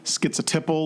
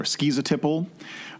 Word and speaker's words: schizotypal: cluster a which is called schizotypal or schizotypal or skis a tie pole you know you hear it pronounced in different ways it sometimes is confused